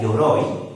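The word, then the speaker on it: 鎧: Y en este otro caso tenemos este tercer kanji que se pronuncia yoroi y significa armadura.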